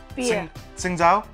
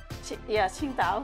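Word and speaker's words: Tsingtao: Qingdao. Qingdao. Or Qingdao. Yeah. And they can't say the T and the S together.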